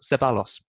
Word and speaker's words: Ceballos: got, I forgot how to pronounce his name, Ceballos. Ceballos. There you go. Mate, you told me you looked it up before this podcast. I did. I've panicked. I've forgotten. You bottled it. It's Ceballos.